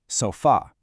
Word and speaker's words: sofá: And luckily for us, in Spanish, the word is almost identical, sofá. You just have to put the stress on that very last syllable, sofá.